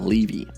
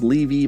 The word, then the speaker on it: Levy: actual arch nemesis angstrom leevy I know I know it's levy my old videos said Levy and I'm sure I'm